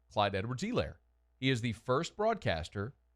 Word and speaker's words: Clyde Edwards-Helaire: crushing Steve Levy for what they thought was mispronouncing Clyde Edwards-Helaire, but he was the only one who nailed it. It's Clyde Edwards-Helaire. It's not Allaire or Hilaire or Helaire or any other. It's Clyde Edwards-Helaire.